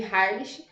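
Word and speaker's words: Heimlich: Harley Harley esticada um falei de uma forma que é um sobrenome alemão foi um pouquinho difícil assim de pronunciada É essa a gente fala aqui mais no Brasileiro né eu chamo de Harley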